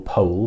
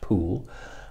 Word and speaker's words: Pole: cardinal poole not cardinal pole by the way his name is actually pronounced pool um he he essentially